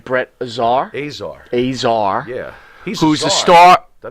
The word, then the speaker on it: Azar: Azar.